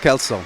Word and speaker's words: Kelsall: And here we are with Mr. Dylan Kelsall. Yes. Pronounced correct? Yes, correct.